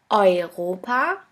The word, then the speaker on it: Europa: The next letter combination is EU or EU, which is pronounced like oi, oi. Here we have the example of the word Europa, which means Europe.